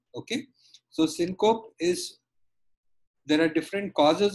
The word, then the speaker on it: syncope: management so the first thing in unconsciousness is cinco actually it's pronounced as syncope okay so syncope is there are different causes of syncope the